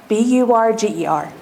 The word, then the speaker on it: Wasserburger: It's Wasserburger, just like it sounds.